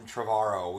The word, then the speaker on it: Trevorrow: We had a hard time pronouncing Colin Trevorrow. We just had to keep reminding ourselves. It's not Trevorrow. It reminds. He's not from England.